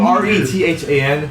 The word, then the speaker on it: Rethan: I don't It's spelled R E T H A N.